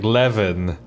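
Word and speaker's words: Eleven: my name is silent e at the top oh that's why she said her name like that like leevan I get a bit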